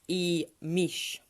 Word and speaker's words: Imix: Which is actually pronounced IMIX. Double E's for the eyes. And the X is pronounced as an SH.